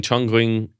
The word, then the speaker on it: Chongqing: So in Chongqing, I think that's how you say it. Chongqing in China, every Friday and Saturday morning, hundreds